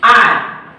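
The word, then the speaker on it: hour: को देखना है कि आर में एच ओ यू आर, यहाँ पे एच लिखा जा रहा है लेकिन इसका उच्चारण नहीं किया जा रहा है, इसीलिए यहाँ पे आर्टिकल एन का यूज किया जा रहा है क्योंकि उच्चारण हम लोग यहाँ पे ओ वॉवेल का कर रहे हैं।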